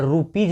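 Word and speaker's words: rupees: तो RUP आप रूपी पढ़ते हो, अब अंत में आ गया एस, तो एस का उच्चारण यहाँ पे होगा ज, तो रूपीज हो जाएगा।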